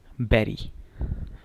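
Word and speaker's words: bury: और इसको प्रोनाउंस कैसे करेंगे, बैरी।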